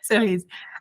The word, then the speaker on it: Cerise: You pronounced it perfectly. Most people butcher it, so it's... Oh, cool. Cerise.